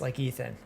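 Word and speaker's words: Ithan: Ethan. Is it pronounced like Ethan? I-T-H-A-N? Is it pronounced the same as Ethan? Ethan? DiLorenzo? Yes, like Ethan.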